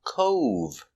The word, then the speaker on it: cove: good another example is Cove Cove a small Beach is a Cove making the long o sound o Cove they're swimming in the